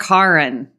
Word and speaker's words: Charon: And we are going to discuss Season 2, Episode 4, An Obol for Charon.